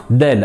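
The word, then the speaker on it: دال: Donc, il ne faudra pas la prononcer da, mais plutôt de.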